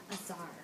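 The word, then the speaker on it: tsar: Azar. Good. So the T is silent.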